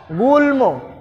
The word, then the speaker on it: গুল্ম: গুল্ম, গুল্ম, গুল্ম, এখানেও ম এর উচ্চারণটা আছে। সুতরাং এখানে ম এর উচ্চারণটা কোথাও পরিবর্তন হয়নি।